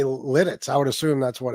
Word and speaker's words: Lititz: No, it's Lidditz. Lidditz. You were in the ballpark.